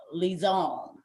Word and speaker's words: Lison: I want to say you put Lison. It gives me the Pepe Le Pew sound, like Lison.